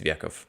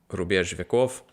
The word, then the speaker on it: Рубеж Веков: By the artist group, Rubеж Веков, I think is where the ударение falls. I don't think it's Vekov. Yeah. Рубеж Веков.